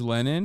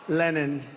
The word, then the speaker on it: Lenin: Has anyone ever heard that's Lenin? Lenin, as they say in Russia. It's technically closer to correct than Lenin, as Americans say it.